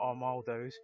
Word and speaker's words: Armaldos: Oh my goodness, you pronounced it right. Oh, Did I do it right? I'm so glad. you didn't say That's Armagh, all I wanted to achieve. and you didn't say armadillos, and this is Christmas.